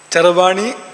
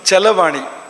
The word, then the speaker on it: ಚರವಾಣಿ: ಚರವಾಣಿ ತುಂಬಾ ಸುಂದರವಾದ ಶಬ್ದ ಚರವಾಣಿ ಚಲವಾಣಿ ಎರಡು ಆಗಬಹುದು ರ ಉಚ್ಚಾರ ಮಾಡಕೆ ಕಷ್ಟ ಆದರೆ ನೀವು ಲಾ ಬಂದರೆ ರಲಯೋ ರಭೇದ ಅಂತ ಸಂಸ್ಕೃತದಲ್ಲಿ ನಿಯಮ ಇದೆರಕುಲ ಒಂದೇ ಅರ್ಥ ಅಂತ ಇಲ್ಲಿ ಅರ್ಥ ಕೂಡ ಚಲವಾಣಿ ಅಂದ್ರು ಕೂಡ ಅದೇ ಅರ್ಥವನ್ನ ಕೊಡುತ್ತದೆ ಅದು ಅಂತ ಬಳಸಬಹುದು ಅಂತ